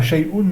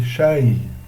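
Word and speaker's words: شاي: Le thé, ça s'écrit comme ça, shai. C'est pas shay'un, mais c'est shai. Shai.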